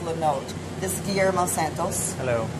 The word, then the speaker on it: Lenôtre: It looks like Lenotre, but it's pronounced Lenotre.